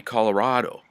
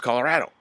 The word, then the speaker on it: Colorado: even pronounce that right it's supposed to be Colorado and my daughters would say no it's Colorado I came from there I know how they pronounce it and people say no